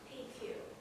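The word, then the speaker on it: Piecuch: didn't know Marty his name was spelled p-i-e-c-u-c-h pronounced PQ and Marty was a musician here in town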